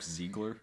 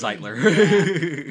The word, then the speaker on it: Zeitler: Did you say Ziegler? Yeah, I might have pronounced that. It's Zeitler.